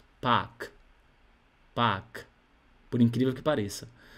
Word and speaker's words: Park: Então, você vai falar só assim, ó, park, park, por incrível que pareça. Você será compelido a dizer parque, mas não é assim. Não é assim. Então, é Park.